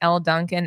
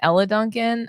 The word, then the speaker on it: Elle Duncan: All I know is that if you don't stop calling Elle Duncan Ella Duncan, I'm gonna lose it.